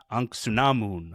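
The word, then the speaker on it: Ankhesenamun: In this one, they they pronounce it Anksunamun. So, it's a little bit of a different pronunciation there, but the same thing, but it's it's very clearly the same thing.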